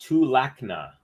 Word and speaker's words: Tulakna: It's pronounced Tulakna. That's how you say vamos in Latvian?